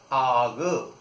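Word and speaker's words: art: जाती हैं जैसे जैसे ए आर टी। इसको अपन इंग्लिश में आर्ट पढ़ते हैं, इसको इंग्लिश में आर्ट पढ़ते हैं, लेकिन फ्रेंच में उच्चारण इसका है आग आग। अब आप देखिए आग कैसे है, आ और ये रा आर आग, ये है आग। ठीक है, ये आग है।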